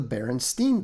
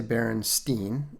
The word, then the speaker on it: Berenstain: to them as the Berenstein Bears. Now, that annoyed me at the time, even when I was pretty young, because I knew that the pronunciation should be Stein.